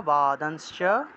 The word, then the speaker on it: বাদাংশ্চ: উচ্চারণ হবে, প্রজ্ঞা বাদাংশ্চ, প্রজ্ঞা বাদাংশ্চ, অনুসার থাকায় নয়ের মতো উচ্চারণ।